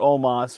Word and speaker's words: Omos: no no almost or omas rather it's spelled almost but they say omas omas defeats lashley mvp